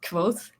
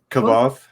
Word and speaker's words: Quoth: It's Quoth? Kavoth? I always called him Kavoth. Yeah, no, it's like Quoth. It's like, oh my God, it's so Quoth.